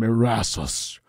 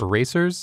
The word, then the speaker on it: Erasus: I am Erasus, the Undoing. Sorry, you're what? Erasus. Erasers? Erasus. That's a little tough to pronounce.